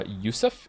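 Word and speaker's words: Yosef: about having many names the name Joseph is pronounced uh yusf in the orig in its original Hebrew form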